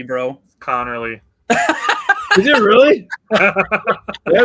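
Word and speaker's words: Conerly: A much easier name to say Josh Connley Jr. out of Oregon. You mispronounced it. It's Connorly, bro. Connorly.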